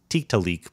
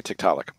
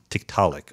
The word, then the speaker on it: Tiktaalik: about the discovery of I always say teak to leek but I'm totally that's not the wrong pronunciation right well that's actually right in some quarters but we say Tiktaalik Tiktaalik okay yeah so if you go to the Inuit it's just an Inuit word and then you a